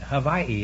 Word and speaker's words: Hawaii: Hawaii is the correct pronunciation.